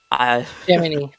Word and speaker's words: Gemini: Is it pronounced Gemini or Gemini? Gemini. The Yeah. program Gemini. Like knee.